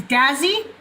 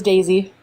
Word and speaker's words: Daisy: Dazzy. Yeah, close. It was Daisy.